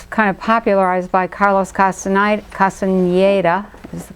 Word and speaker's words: Castañeda: So, the Toltec map has, you know, it was kind of popularized by Carlos Castañeda, is the correct pronunciation.